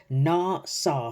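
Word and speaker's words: נסה: the Hebrew right because the Hebrew word for tempt is Nas right n saw phonetically it would be n a w s a w um and if you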